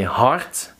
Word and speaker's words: hart: But in Dutch, the D becomes a T. They don't like the D at the end. So they say hart, paard, gerend, rond, moord. So you have to pronounce it as if there was a T.